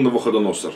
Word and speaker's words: Навуходоносор: Который был изгнан из Иерушалайма, то есть из Иерусалима по-русски, с пленниками, изгнанными вместе с Иехония, царем иудейским, которого изгнал Невухаднецар, ну, Навуходоносор в русском произношении, царь Бавельский, Бавель, значит, Вавилонский, по-нашему тоже, да.